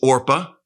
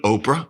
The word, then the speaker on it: Orpah: One's name was Orpah, not to be confused with Oprah.